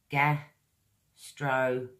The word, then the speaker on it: gastronomic: Another word with four syllables. Gastronomic.